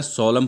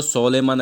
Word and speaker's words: solemn: हैं, जिसका टाइटल है सोलम प्रॉमिस। अब देखना यहाँ पर जो सोलेमन है ना, SOLEMN, इसका प्रोनाउंसिएशन जो होगा वो सोलेमन या सोलेम ऐसा कुछ नहीं होगा। इसका प्रोनाउंसिएशन है सोलम।